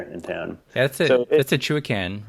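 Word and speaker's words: Chewaucan: So that's a Chuacan, right? River. Yeah, and I always pronounce it wrong. So I think it's actually pronounced Shiwakan or Chuacan. Shiwakan.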